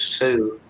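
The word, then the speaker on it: Sioux: spelled different there's s-a-u-l-t to salt marie there's sue s-i-o-u-x you know from the nato yes but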